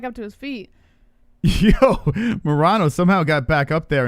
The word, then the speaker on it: Morono: I've been saying Morono this whole time. No one could have told me it was Morono except for Who Cares.